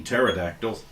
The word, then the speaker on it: pterodactyls: And then she's like, well, I think we're far enough away from those pea pterodactyls. Apparently the P is silent.